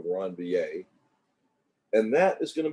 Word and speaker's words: Ranvier: It's pronounced that way, node of Ranvier.